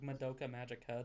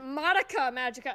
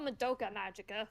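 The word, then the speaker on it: Madoka Magica: how to pronounce like Moka Magika despite that being like his favorite. Yeah, he says Monica Magika. It's like I I thought it was called Moka Magika.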